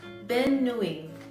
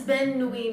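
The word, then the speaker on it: bonne nuit: So it's Ben nuit.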